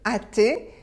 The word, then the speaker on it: hâter: vous avez un H le h on ne le prononce pas et vous avez un